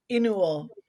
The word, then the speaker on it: Inu-Oh: second film, which is called, how do you pronounce it again, Tenny? Inu-Oh.